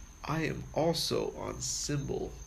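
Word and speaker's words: Cymbal: I am also on symbol a symbol app that's spelled like CY MB al the symbol you play as an instrument symbol FM or just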